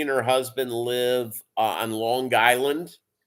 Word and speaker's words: Long Island: She and her husband live on Long Island. Got a hard G there, and she does the Island